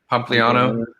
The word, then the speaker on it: Pompliano: Pompliano.